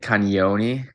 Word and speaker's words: Cagnoni: a why after the first and it's like kanyoni it's a little weird one yeah okay so